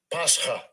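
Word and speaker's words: πάσχα: Pascha. Pascha.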